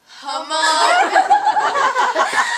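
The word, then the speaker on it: Hmong: So how do you spell it? Oh, H-M-O-N-G. Mong.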